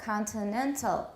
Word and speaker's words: continental: the example is continental where is the stress which syllable again the third syllable continental continental so you could